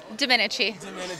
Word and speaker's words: Domenici: Did I pronounce that name right this time, Jamie? Pretty good, pretty good. I mean, Dominici. Dominici. Okay, like Dominici.